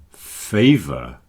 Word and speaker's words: favor: Flavor and favor. Notice the pronunciation of the letter A here. Flavor, favor. Not flavor, favor, but flavor and favor.